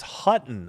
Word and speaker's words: Hutton: Oh, it's Hutton. I could not read that. I did not see that H.